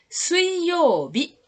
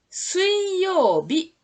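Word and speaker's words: 水曜日: Alors le mot avec le kanji mizu, le premier mot, suiyobi. Le mizu se prononce sui. La lecture on, c'est sui. La lecture kun égale mizu. Mizu et sui. Suiyobi. Suiyobi.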